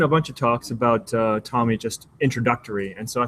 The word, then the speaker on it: TomEE: The project is pronounced TomEE, not TomEE, so that's how you know anybody who's watched a video before versus just seeing the text written.